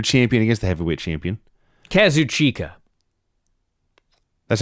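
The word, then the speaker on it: Kazuchika: will Osprey junior champion against the heavyweight champion Kazu chika that's how you said it to you yes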